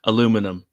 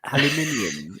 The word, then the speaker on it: aluminium: alumin you know Platinum aluminium aluminium there's an i plat aminium planium antium